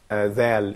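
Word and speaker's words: ذال: Well, when it comes to Zal, so you put the tip of the tongue between the upper and lower teeth.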